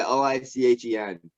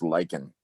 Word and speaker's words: lichen: do you spell it it's spelt l-i-c-a-g-n yeah l-i-c-h-e-n yeah it's pronounced it's pronounced lichen lichen yeah held on like like a needy